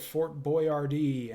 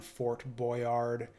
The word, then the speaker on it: Fort Boyard: Yeah, I think I'm gonna pass on Fort Boyard. Also, I guess if it's French, you don't pronounce the D, so it'd be like, or the T either.